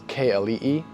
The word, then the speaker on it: Keali'i: at the beginning because people really struggle to pronounce it, is Keali'i.